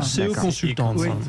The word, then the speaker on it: CE Consultants: On le prononce à la française comme ça, Oui, c'est parfait. Non, ça marche pas comme ça. CE Consultants.